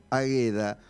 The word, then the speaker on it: Águeda: me dice que tu nombre se escribe con acento en la queda de semana tendría que haber corregido es porque yo te digo águeda y claro porque sabes que en algunas en